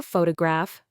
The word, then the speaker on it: photograph: Listen to photograph versus photographer. In photograph, the first syllable is stressed.